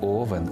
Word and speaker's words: Овен: зупинюся лише на проблемних Отже Овен є друзі не Овен а Овен наголос падає на другий склад у родовому відмінку овна